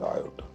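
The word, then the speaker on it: iota: आई इज a Greek word. It's pronunciation is आयोटा।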